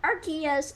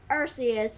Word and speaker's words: Arceus: and the reason why the Pokemon Company International wants us to pronounce it Arceus instead of Arceus is because, yeah.